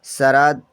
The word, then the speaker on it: शरद: Next यहाँ पर SHARAD, हम इसे पढ़ेंगे प्यारे बच्चा शरद। एच से बड़ा सा बनता है, ए साइलेंट रहेगा, आर से रा और डी से दा।